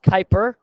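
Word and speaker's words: Kuiper: Pluto lies something called the Kyper Bel pronounced Kyper and there are many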